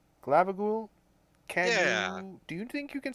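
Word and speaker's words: Glabbagool: group how do you say your name again glabagool glabagool do you think you can swim i think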